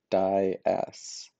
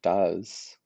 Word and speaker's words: dais: I always spelled dais wrong because it's pronounced die-s, right? It's not pronounced does. I think we gotta just update the spelling there.